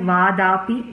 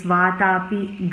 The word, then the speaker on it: Vatapi: In most parts it sounded like Vadapi, whereas it's Vatapi Ganapatim. It sounded like Ganapatim in some places.